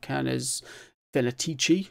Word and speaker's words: Canes Venatici: This one is Canes Venatici, if that's how you say it. I've never known. Canes Venatici, it's sometimes pronounced as well. It depends on how your Latin is.